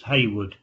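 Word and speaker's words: Hayward: new chief constable chris haywood it's h-a-y-w-a-r-d but pronounced haywood um his intention is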